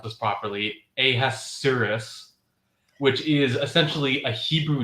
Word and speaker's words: Ahasuerus: If it's a more sort of word for word translation, it probably has, I'm going to try to pronounce this properly, Ahasuerus, which is essentially a Hebrew name for the Persian king.